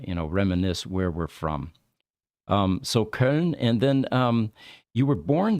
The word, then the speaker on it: Köln: Oh, Köln. Yeah. Okay. Yeah. Köln. Yeah, that's how we pronounce it.